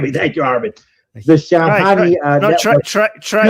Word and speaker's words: Shamkhani: Shamkhani Shamkhani yeah. Thank you I can't do the right forget me thank you Armin. The Shamkhani uh No try try try it try it.